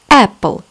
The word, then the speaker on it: apple: кот кот или кошка apple яблоко заметьте в слове apple две буквы пишутся но читается только одна rapid кролик опять в